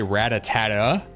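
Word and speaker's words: Rattata: So, I said rat-a-tat-ta for so long, and it took so long for somebody to correct me. They're like, why are you saying it like that? It's like, what do you mean? They're like, you're saying rat-a-tat-ta, it's rat-a-tat.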